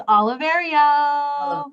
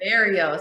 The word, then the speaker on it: Oliverio: Can you give me the proper pronunciation? Because I feel like I never say it right. It's Oliverio. Oliverio.